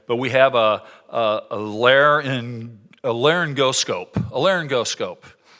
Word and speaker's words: laryngoscope: say this word right, but we have a laryngoscope, right?